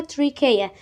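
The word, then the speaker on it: trachea: هيدخل في حاجة اسمها تريكيا. تريكيا، ركز معايا في النطق، هي ليها نطق تاني بس احنا هنقول النطق ده عشان هو سهل.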